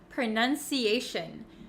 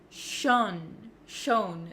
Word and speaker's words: pronunciation: t IO n right so a lot of students say Shon Shon they make that o sound but for pronunciation and any word almost that ends in t i o n we actually pronounce it as Shin Shin so you can see